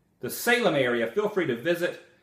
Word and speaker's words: Salem: to Oregon see I said it right the Salem area feel free to visit and he put